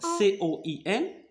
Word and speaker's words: coin: Alors ici, C, il y a devant C la lettre O. Alors, C, on va la prononcer comme K. Alors, qu'est-ce qu'on va lire? Alors, C-O-I-N. Coin.